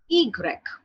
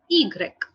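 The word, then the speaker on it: i grec: so the pronunciation of y in french is egreg okay egreg okay the pronunciation is egreg egreg and the last but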